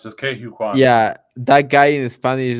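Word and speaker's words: Ke Huy Quan: Yeah, at least that's how I've heard it pronounced, just Ke Hu Kwan.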